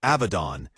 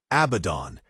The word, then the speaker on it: Abaddon: And yes, I relinquish my pronunciation of Abaddon to Abaddon, despite having spoken this incorrectly for the past 20 years.